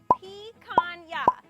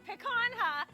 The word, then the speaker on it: picanha: First of all, picanha is pronounced picanha. As much as it's funny to say picanha, that ain't right, so be sure to properly pronounce it.